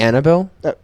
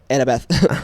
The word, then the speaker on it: Annabeth: You say Annabelle? Annabeth. He idiot, wrong.